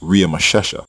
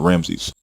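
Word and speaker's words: Ramesses: royal name ramsay's in which was actually pronounced ria mashem by native egyptian speakers not ramses the egyptian name in genesis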